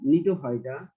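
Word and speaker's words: Gnetophyta: এই 4টি বিভাগ হলো জিঙ্গোফাইটা, সাইকেডোফাইটা, এখানে জি এর উচ্চারণ হবে না, নিটোফাইটা, কনিফেরোফাইটা।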